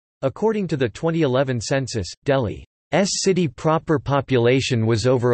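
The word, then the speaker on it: दिल्ली: Delhi, Hindustani pronunciation, Delhi, Delhi, officially the National Capital Territory of Delhi, NCT, is a city and a union territory of India.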